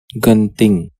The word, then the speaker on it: Genting: Let's just learn how to say it in Malay. Genting. Okay, Genting is closer to the original language. Let's just stick with that.